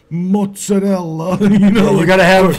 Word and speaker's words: mozzarella: to public service announcement you cannot pronounce it mazarella it's that's offensive mozarella Italians I think in general get offended when they hear something like that masella yeah that that offends